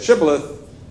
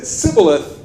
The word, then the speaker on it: shibboleth: and if they said shibboleth then good but if they said sibilith then you're toast okay and that's because